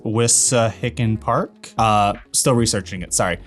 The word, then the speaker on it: Wissahickon: It's pronounced Wissahickon Park.